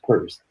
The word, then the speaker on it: Peirce: I was saying his name wrong. It's not Pierce. It's Peirce.